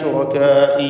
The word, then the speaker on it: شركائي: ഐന ശുറകാഇ. ശുറകാഇ റാഇന് തഫ്ഖീം എടുക്കാൻ ശ്രദ്ധിക്കുക. തടിപ്പിച്ചാണ് റാഇനെ ഉച്ചരിക്കേണ്ടത്.